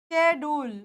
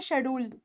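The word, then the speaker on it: schedule: कुछ स्केड्यूल बोलते हैं वैसे हम पता है क्या बोलते हैं हम बोलते हैं शेड्यूल यह हमारा शेड्यूल है नहीं हमारा शेड्यूल नहीं है वो हमारा स्केड्यूल है स्केड्यूल स्केड्यूल वैसे य भी लगता है इसमें स्केड्यूल ये हमारा स्केड्यूल है स्केड्यूल ठीक है इट इज नॉट शेड्यूल इट इज नॉट स्केड्यूल कुछ नहीं है इट्स ट स्केड्यूल ठीक है ये वर्ड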